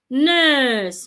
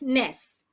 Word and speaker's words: nurse: n o u n nurse not Ness nurse make it a long sound next now noun now